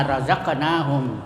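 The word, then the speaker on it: رزقناهم: Jadi kalau ada huruf kalkala berbaris sukun asli di dalam kata-kata bahasa Arab ya, contohnya razaqnahum ya, cara membacanya harus bergoncang ya, dan berbunyi membalik atau terdengar getaran suara.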